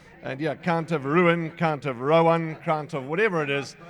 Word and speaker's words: Count of Rouen: He got him ready and uh and Roslin says he's Count of Rowan, not Count of Ruan. Okay, we'll argue with Google, too.